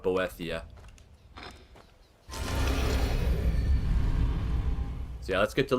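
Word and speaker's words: Boethiah: is sacrifice maruo to boia or boia or however you want to pronounce it I I like to call it boethia so yeah let's get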